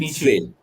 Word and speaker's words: Nietzsche: Friedrich, I'll be mispronouncing this. Nietzsche, and maybe help me out. Friedrich Nietzsche.